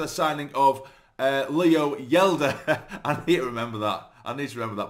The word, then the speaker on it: Hjelde: of course Leo yela I believe it's yela not haa or haa or however I was pronouncing it in the last video he has said himself that he is uh it is Leo yeler so uh I'll have